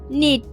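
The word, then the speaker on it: knit: में कहा जाता है नीट नीट मतलब बुनना और याद रखिएगा इसमें के साइलेंट है और नेक्स्ट है सिलना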